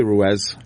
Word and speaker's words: Ruiz: whatever you want well how do you pronounce it I say Ruez well how about you